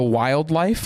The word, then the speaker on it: WLDLFE: Those songs, listen to a song called Heaven is a Place by The Wildlife, and it's spelled WLDLFE.